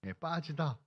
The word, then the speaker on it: 빠지다: 삐지다라고 읽으시면 안 됩니다. 삐지는 게 아니고 빠지다.